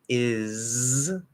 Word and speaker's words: is: Both has and is, they're spelled with an S, but it's a Z sound.